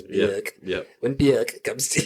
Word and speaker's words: Björk: So when Bjork, I'm going to say her name properly, it's Bjork.